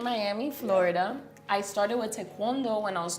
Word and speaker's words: taekwondo: I started with Taekwondo when I was 2 years old. You say it properly. Tawondo. Yeah, cuz I say taekwondo.